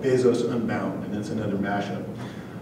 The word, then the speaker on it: Bezos: and I actually got to hear Jeff Bezos pronounce his own name it's Jeff Bezos so this poem is a response to a